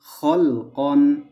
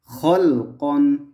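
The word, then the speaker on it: خَلْقًا: অতিরিক্ত বেশিরভাগ সময়েই থাকে তবে এটার উচ্চারণ এখানে আসবে না তাই বানানোর সময় আমরা আলিফটা না বললেও চলবে খ লাম জবর খল কফ দুই জবর কন খলকন খলকন আচ্ছা আরেকটা বিষয় আমাদেরকে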